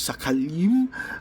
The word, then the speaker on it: shekel: Uh or some people might pronounce it sakali, but I think it's shekel.